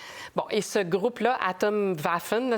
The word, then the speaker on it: Atomwaffen: et ce groupe là atom vaffen si on le prononce à l'allemande c'est un groupe d'extrême